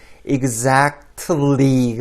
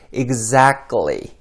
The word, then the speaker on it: exactly: exactly가 아니라 끝에 t 발음을 생략해서 exactly 이렇게 발음하셔야 하고요.